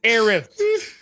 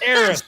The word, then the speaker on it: Eris: He's not Eris, it's Eris. Eris, whatever her name is. Eris.